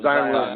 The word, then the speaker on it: Zion: Zion.